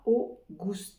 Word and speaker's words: august: pour les francophones donc on va commencer par a o et ensuite c'est comme dans l'angouste Gou sans prononcer le E bien sûr à la fin a augoue Auguste Auguste puis septembre